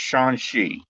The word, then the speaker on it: Shang-Chi: Man, I always get that name wrong. It's Shang-Chi.